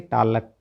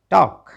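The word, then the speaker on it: talk: तो TAL के टालक ना ना ना ना ना क्या पढ़ेंगे टॉक, क्योंकि एल तो साइलेंट है।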